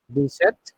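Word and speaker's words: dix-sept: So how do you pronounce 17? DZ. Set. Be set. Deset.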